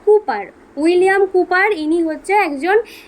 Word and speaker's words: Cowper: এটা COW কাউ হয়, বাট উচ্চারণ কিন্তু কাউপার বলবে না, বলবে কুপার।